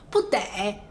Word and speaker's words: 不得: 个不得，不得是需要的意思。你要注意哦，读音是不一样的，用读音来区分。